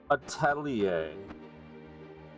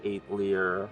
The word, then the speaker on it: atelier: the side, get to the Atelier, which I just learned how to pronounce. I said eight leer for years.